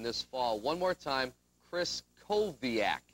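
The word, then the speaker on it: Krystkowiak: fall one more time kris koviak you don't pronounce the t and like larry said the w is pronounced like a v let's hear it norm kris koviak good all right i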